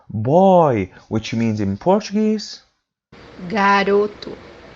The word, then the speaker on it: garoto: The example that we have here is the word powder, which means in Portuguese pó, pó, The third pronunciation for this letter is pronounced as oo. Always, when it comes by the end of the word, it's pronounced as oo.